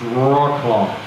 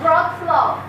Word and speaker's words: Wrocław: yelled at all day you know how how a native English speaker would say this town name correct you know probably it's Ro claw right Alterna we have bro SLO bro SLO broad SLO it's easier right can I say brl